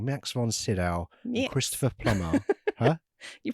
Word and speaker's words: Sydow: I'm making Bob, and I was thinking, because Max von Sydow, I keep pronouncing that wrong. Max von Sydow, and Christopher Plummer.